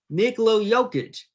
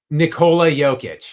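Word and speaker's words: Nikola Jokić: and introduced me to the absolute stud himself, Nicolo Joic. Wait, I did I butcher his name? How do you pronounce his first name? Nicola Jokic.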